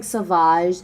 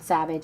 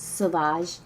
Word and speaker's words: Sauvage: I am wearing Sauvage, not Savage, it's Sauvage. Little accent on the A.